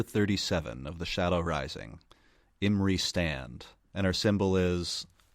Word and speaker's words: Imre: Mackenzie says the audiobooks say Imre.